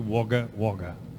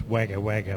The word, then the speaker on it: Wagga Wagga: a while is called wagga walker i better repronounce that for you wagga wagga uh people from overseas see it written and they think it's wagga wagga but it's not as wagga wagga wa next